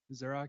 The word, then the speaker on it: pzuraq: And you may know me as Zurok or just Zurok, the is silent, on GitHub, Slack, Twitter, and basically everywhere else.